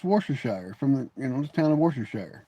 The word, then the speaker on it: Worcestershire: You know the one I can't understand why Americans cannot pronunciate Worcestershire sauce, right? It's Worcestershire from the town of Worcestershire, right?